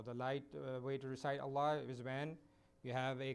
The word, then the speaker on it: Allah: For example, we recite Allah in two different ways. If there is a fatha or a dhamma coming before the word Allah, then it has to be pronounced with a full mouth.